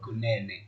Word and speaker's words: Kunene: So I'm joined today by Kunene or Kunene or Nene. How do you pronounce your surname, bro? Kunene.